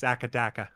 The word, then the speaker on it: AC/DC: Shadowbender says, you've got to pronounce AC/DC like an Australian. Do you know how they pronounce it in Australia? No, but I feel like I'm going to hate it. Akadaka. No, they don't. They do. It's Akadaka.